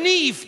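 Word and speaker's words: Niamh: you met seattle i bet what's your name neve oh neve right let me have a go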